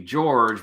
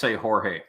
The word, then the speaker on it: Jorge: Well, the English pronunciation would be George, but right. I would say Jorge.